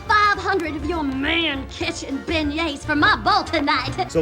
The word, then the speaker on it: beignet: my lifetime okay so what is the big nets it's a beignet it's a beignet let's spell bagnets you're french say it right only by